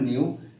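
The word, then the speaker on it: ν: যেখানে এই নিউ টা এটা নিউ উচ্চারণটা হবে নিউ নিউ হচ্ছে এখানে কম্পন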